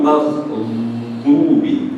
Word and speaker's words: مغضوب: Your tongue should not be between your teeth. This ball is very blunt. Maghdubi. Okay, so very blunt. You don't see my teeth. Maghdubi. So it's not maghdubi. There should not be that vibration.